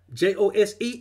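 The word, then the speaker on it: José: And just like J-O-S-E is pronounced Jose, that name is pronounced Jesus.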